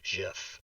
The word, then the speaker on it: GIF: you are disrespecting him the guy who invented it and who said in 1987 it is pronounced jiff also acronyms have their